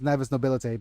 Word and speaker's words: Navis Nobilite: Yeah, it's actually pronounced Navis Nobilite because Cassia said so.